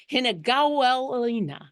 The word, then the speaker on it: Hinagawelina: For those of you who would like to know how to pronounce and or spell the name of the dragon you're looking for, Hinagawelina.